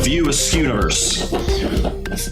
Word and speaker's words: View Askewverse: Name the 2 stoner characters who appear in every film in Kevin Smith's View Askewverse. Did I pronounce that correct, Cody? The View Askewverse.